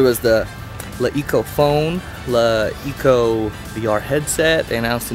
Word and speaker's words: LeEco: Um, La Eco, first of all, it's not pronounced Le Eko. I learned today it's called La Eco.